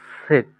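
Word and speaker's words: Z: Basically জেড কে German ভাষায় কি বলি? সেট না? জি তাহলে এখানে সেট।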